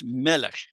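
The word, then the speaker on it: מֶלֶךְ: So they added a segol as helping vowel, malech. But then eventually that original vowel, ma, was leveled out, and the helping vowel was also used in the previous syllable. So it became melech.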